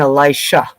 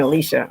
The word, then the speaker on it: Elisha: today by a friend it's Elijah and Elisha and I've been saying Alicia I'm a real Southerner so Elijah and Elisha this is Elisha so and in here